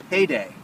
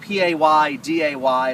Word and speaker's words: PaeDae: We have Rob Emrich with us today from a startup down here in Silicon Beach called PaeDae. Now, it's not PaeDaY, it's not payday loans.